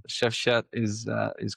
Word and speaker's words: Shefqet: But with the US clients, they were having a hard time actually to pronounce my full name. Chef Chad, Chef Quad, Chef.